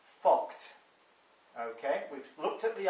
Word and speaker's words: FCUKT: FCUKT, which is pronounced fucked.